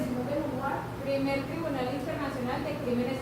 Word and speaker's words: Simone de Beauvoir: Perdón, es que va a hablar en francés. Ok. Pero se pronuncia así, Simone de Beauvoir.